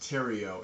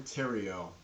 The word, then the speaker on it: Theriault: Yes, believe it or not, my last name is pronounced Theriault. It's Theriault. It's a lot of silent letters going on there. It's a French last name, and for whatever reason, the French people love their silent letters, but I typically just go by Dr.